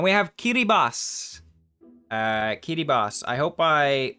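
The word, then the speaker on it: Kiribati: have KY boss uh KY boss I hope I pronounce it somewhat correctly at least I've heard that the ti makes an S sound for some reason I'm going to stand with that I think KY Bas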